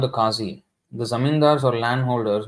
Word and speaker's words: Kazi: it say you see Kaji actually is Kazi the not it is